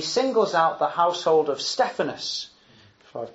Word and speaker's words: Stephanas: second half he singles out the household of stephanas I've pronounced that right Stephanus yes Stephanus and saying those of that household devoted themselves